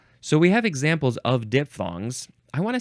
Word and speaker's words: diphthong: Next is falling diphthong, or is it diphthong because it's spelled with a PH? I think we talked about that way back in the D's.